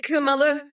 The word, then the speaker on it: Kamala: coconut I know how to pronounce my name you brain dead orange Wade it's it's it's kumalo you know like how you say [ __